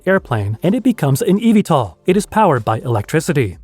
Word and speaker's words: eVTOL: Electric Vertical Takeoff and Landing, or eVTOL, pronounced eVTOL, is not a brand new idea.